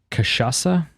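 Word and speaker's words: cachaça: is Jambu because he told me how to pronounce this which was very kind of him um kashasa there you go you know what you think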